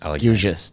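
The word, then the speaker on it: Gilgeous: Gilious just gilious.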